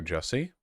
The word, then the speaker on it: Jussie: In the early hours of Tuesday morning, our beloved son and brother Jussie, again, rhymes with Sussy, was the victim of a violent and unprovoked attack.